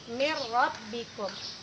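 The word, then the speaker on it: مِنْ رَبِّكُمْ: Jadi nun matinya tadi tidak kita baca, langsung kita masukkan bunyi ro menjadi min rabbikum.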